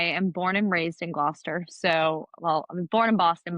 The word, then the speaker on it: Gloucester: us today, talking about the Massachusetts town of Gloucester. Gloucester. Is We literally just went over how to pronounce it. that wrong? Tori, can you help us out here? Gloucester.